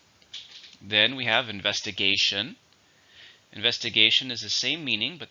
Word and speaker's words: investigation: then we have investigation investigation is the same meaning but this is a countable noun how many syllables are an investigation 5 stress on the 4th investigation the police investigation